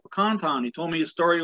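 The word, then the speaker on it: Pakan Town: So it's kind of hard to say Pecan Town when it actually, most people know it as Roostertown.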